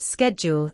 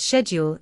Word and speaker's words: schedule: For example, the word schedule is pronounced schedule in American English, but schedule in British English.